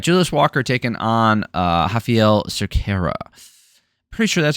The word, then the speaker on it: Raffael: All right, Julius Walker taking on uh Hafael Cera. Pretty sure that's how you pronounce it is how they pronounced it.